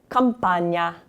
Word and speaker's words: campagna: Again, we have the GN sound combination like in the first word there. Allora, campagna. Campagna.